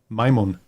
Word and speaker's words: Majmun: Majmun. Maymun? Majmun. Majmun. Like in English, it would be like pronouncing M-A-Y-M-U-N.